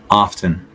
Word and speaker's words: often: the incorrect way first often often I often say this word in correctly the tea is basically silent so it's often not often but I know I'm